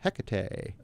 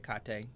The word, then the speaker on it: Hecate: the goddess of witchcraft hecate oh thank you i love hecate hikate i i know who you're talking about i've heard i've heard numerous numerous pronunciations and they're all correct i personally don't work